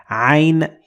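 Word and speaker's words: عين: to ein and this combination that i found is the combination of a in in english so it is not the same but it is so close to it so if you have difficulty pronouncing ein you can just say i or i uh in in instead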